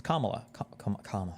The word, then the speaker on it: Kamala: have people who are like Kamala Kamala it's Kamala sorry Kamala okay Kamala all I can't pronounce her name it's too difficult okay really